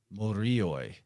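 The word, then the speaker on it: μύριοι: Morioi. It's like M-U-R-I-O-I. Sounds a lot like the Moire.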